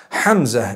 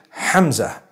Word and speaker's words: Hamza: Hamza is the proper pronunciation. Hamza. It starts with a ha, it has a mim, zai, and it has a ta marbuta at the end.